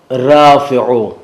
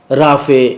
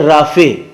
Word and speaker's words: رافع: یا عبد الرافع، تو ہم لوگ اسے پکارتے کیا ہیں؟ رافع، یعنی فے اور بڑی یہ، جبکہ یہ صحیح تلفظ نہیں، رافع، فے کے بعد عین ہے جسے پورے طریقے سے ادا ہونا چاہیے، رافع، رفعت دینے والا،